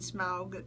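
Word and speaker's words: Smaug: that the black Arrow has struck the dragon smog directly through the heart and that is how it's pronounced um and brought it down and brought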